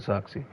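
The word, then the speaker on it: Zirkzee: Speaking of, the man himself pronounces it Xerxes, which I didn't want to hear him.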